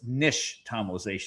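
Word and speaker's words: nixtamalization: And the X is actually sh. So, it's nish tomalization.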